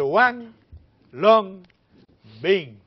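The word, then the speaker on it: Huanglongbing: manejos integrados para combatir lo que es el One Long Bean. Eso se escribe H-U-A-N-G, Long, L-O-N-G, Bean, B-I-N-G.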